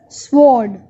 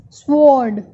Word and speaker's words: sword: As you can read any of the word, so it is sword, sword. W is silent.